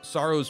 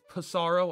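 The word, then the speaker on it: Psaro: think the road to sorrow's peak i i was told to pee is silent i don't know i don't think it's pissarro i think it's just sorrow which is a cool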